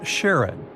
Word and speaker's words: Charon: most mysterious one, Charon, also pronounced Sharon. So, you can pronounce it however you like. I'm going to go with Charon. Now, Charon, is Pluto's largest moon.